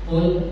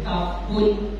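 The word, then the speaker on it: قُلْ: Qul, awas salam bacanya pakai qaf. Qul, naturokan. Qul, artinya katakanlah, lafazkanlah, ucapkanlah. Tapi kalau dia naik dikit jadi qul, nah itu pojok nomornya jadi kaful, artinya makanlah.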